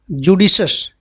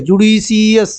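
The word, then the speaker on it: judicious: है इधर क्या था जुडिशस इसका प्रोनाउंसिएशन आपको ध्यान देना है। ठीक है? जुडिशियस ऐसे नहीं बोलना है। जुडिशस क्या बोलना है?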